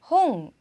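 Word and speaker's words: 本: 자 먼저 책이라는 단어는요 홍, 자, 홍도 아니고 홈도 아니고 혼도 아니죠.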